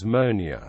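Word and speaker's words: moenie: to grammar for example Mo n i which literally means must not usually becom monia although one does not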